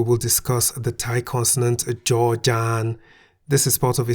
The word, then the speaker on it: จ จาน: The Thai consonant Jaw-Jan sounds like a J at the beginning of a syllable. Jaw. At the end of a syllable, Jaw-Jan sounds like a T.